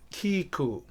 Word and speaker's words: Kīkū: is called a Kiku that's spelled kahako e which is the letter i k again and which is the letter U so we pronounce the name with a a longer uh stress over the vowels oh so the word